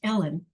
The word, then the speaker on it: Elen: the youngest child and her older sister elen later pronounced Ellen would survive Beyond the